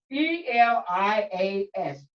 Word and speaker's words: Elias: is spelled ilyas i think this is correct e-l-i-a-s can you pronounce that for me butterfly be honest elias